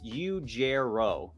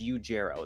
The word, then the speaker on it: Ujero: It's Ujero. So you've been really close with it because you've been making the G a J, but it's Ujero. The R is silent, but for people that